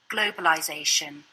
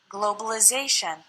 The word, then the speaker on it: globalization: But British English continues this same pronunciation in the noun form. globalization, And American English changes the sound of the letter I, globalization.